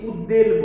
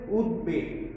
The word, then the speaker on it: উদ্বেগ: তাহলে আমরা এখানে উদাহরণ দেখি যে উদ্বেগ, এটাকে অনেকে উচ্চারণ করতে ভুল করে, অনেকে উদ্বেল বলে, আসলে এটা হবে উদ্বেগ।